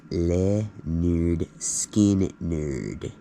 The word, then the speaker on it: Lynyrd Skynyrd: grave sites to one of my favorite bands Leonard skinnard pronounced leard skin nerd it's the very first album pronounced Leonard skard